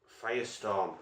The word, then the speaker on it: Fyrestorm: Fyrestorm, I think it's pronounced. It's not like fire as in you would normally spell it, but I think it's the Coleman Fyrestorm.